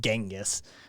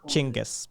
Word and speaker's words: Genghis: pronunciation of his name it isn't genghis it's closer to chingus but it's you know